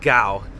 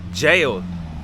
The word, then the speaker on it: gaol: because it's Cork City Jail even though it's spelled g a o l is still pronounced jail it is currently 1 p.m.